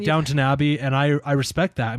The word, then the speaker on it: Downton Abbey: I know that it's pronounced Downton Abbey, not downtown.